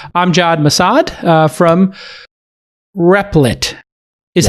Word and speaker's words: Replit: to the podcast i'm john massad uh from replit is how you would pronounce it replied yes but it is r